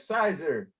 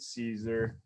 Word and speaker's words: Siser: not all my classes is how to properly pronounce Caesar. CAESAR is si es Er, I know a bunch, you probably like sizer. No, it's not sizer it Cesar so lesson number one.